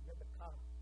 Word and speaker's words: Rebekah: How do you say her name in Hebrew? Rebekah.